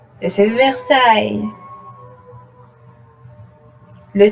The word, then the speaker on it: Versailles: A-I, E-S at the end, but the real pronunciation, it is Versailles, like this.